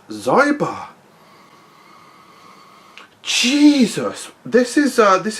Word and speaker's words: Xyber: it g bar henceforth even though we both know it's zybar jesus this is uh